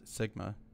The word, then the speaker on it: SGMA: But the 2014 Sustainable Groundwater Management Act, pronounced SGMA, changes all that.